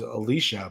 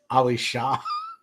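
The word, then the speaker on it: Laisha: It was Alicia, but it was spelled L A I S H A and I kept pronouncing Ali Sha because like I thought it was like a Muslim name.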